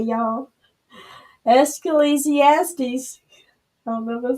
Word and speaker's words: Ecclesiastes: how you say it escalasiastes oh no it's Ecclesiastes is please yes please